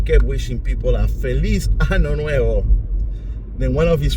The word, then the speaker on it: año: In Spanish, the word ano literally means anus. So Phil didn't realize that he was actually mispronouncing the word. He should have actually said to them, Feliz Año Nuevo, instead of Feliz Ano Nuevo.